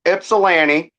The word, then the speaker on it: Ypsilanti: So, it's called it's pronounced Ipsellani and that's where I was born. That's where my story originates. Ipsili. Yeah, it's kind it's it's exactly the way it's spelled.